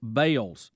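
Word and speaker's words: Balls: b a l LS they now pronounce it as Bales b a l e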